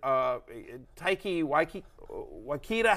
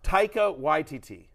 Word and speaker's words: Taika Waititi: The fact of the matter is you actually have an Australian, Taiki Waikita. How do I pronounce it, guys? Nothing. Haiki Waikita. What? Hang on. Taika Waititi.